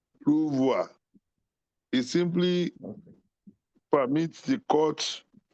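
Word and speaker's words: renvoi: We pronounce it ruvoir but we spell it ru e n v o i ruvoir.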